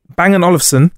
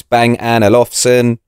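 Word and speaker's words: Bang & Olufsen: the best way to the best way remember how to say it is think of that tiny temper song where he says bang an alfson okay so you say it like that bang and olivon bang Anson is what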